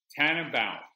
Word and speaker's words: Tannenbaum: it again i want to say it right tan about yeah there you go maybe i'm hearing in